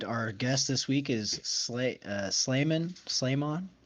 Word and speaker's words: Sleimon: Um, and our guest this week is Sleimon. Sleimon. How do you pronounce it? Sleimon.